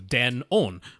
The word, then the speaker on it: Denon: They're like, now it is officially Denon. But yeah, I mean, it was a compound word in Japanese. It was Denki Onkyo, which is good sound. So it was Den-on.